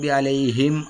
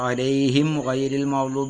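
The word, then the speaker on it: عَلَيْهِمْ: പിരിച്ചെഴുതുക അതുപോലെതന്നെ നമ്മൾ ശ്രദ്ധിക്കേണ്ടത് അലൈഹിം അലൈഹിം എന്ന് പറഞ്ഞിട്ട് ചുണ്ട് കൂട്ടിയിട്ട് എന്ത് ചെയ്യണം വാവിനെ ഉച്ചരിക്കണം സാക്കിനായ മീം ശേഷം സാക്കിനായ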